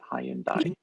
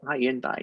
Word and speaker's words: Hyundai: I'm so nervous about how to say Hyundai because we say it Hyundai in Europe, right? In the UK, and over here you say it Hyundai.